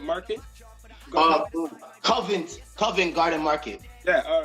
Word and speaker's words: Covent Garden: I want to pronounce it proper. Covenant Market. Covent Garden Market.